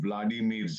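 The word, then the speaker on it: Володимир: Ma'am, ये जंग है 2 व्लादिमीर्स का, एक है व्लादिमीर पुतिन, दूसरा है व्लादिमीर ज़ेलेंस्की, उसकी यूक्रेनियन प्रोनाउंसिएशन वोलोदिमीर है।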